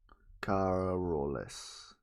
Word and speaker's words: Carolus: Carolus. That's how you pronounce it.